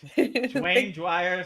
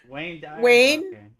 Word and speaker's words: Wayne Dyer: Is it Wayne Dyer? Yeah, with a W.